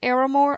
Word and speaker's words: Aramore: I pronounce it Aramore. I don't know how you might pronounce it. I say Ara because it's like Sarah, but without the H. So I say Aramore.